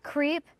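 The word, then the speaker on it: Khriep: It was like K-H-R-I-E-P, spelled like creep phonetically.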